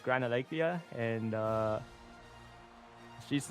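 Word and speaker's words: Gran Alegria: You're not taking I'm gonna butcher the pronounce I'm gonna I'm gonna butcher the pronunciation, but isn't Grand Algria? I think it's Gran Algriia.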